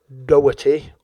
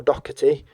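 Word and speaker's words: Doherty: The the actor who plays Briany is Erin Doaty or Dockati. Doaty. I'm not I'm not sure how to pronounce it. It has two different pron pronunciations. I would say Doaty because it's with an an H there.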